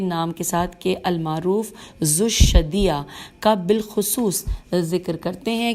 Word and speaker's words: ذوالشدیہ: ہے یہ رے، المعروف ذوالشدیہ، زال واو الف لام شین، شین پہ تشدید ہے اور دال، اور پھر یہ ہے، تو پھر دوبارہ پڑھ لیتے ہیں کہ نام کے ساتھ کہ المعروف ذوالشدیہ کا بالخصوص ذکر کرتے